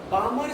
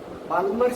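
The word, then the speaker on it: Balmer: अब बामर सीरीज को हम L साइलेंट है, बाल्मर सीरीज नहीं, बामर सीरीज।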